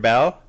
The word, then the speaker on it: Beall: bell yes this is so weird it's like art